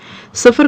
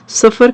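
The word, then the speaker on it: صفر: सफ़र का लफ्ज़ अगर हम अपने उर्दू के प्रोनाउंसिएशन को ठीक करके पढ़ें तो ये सीन से नहीं बल्कि स्वाद से आता है।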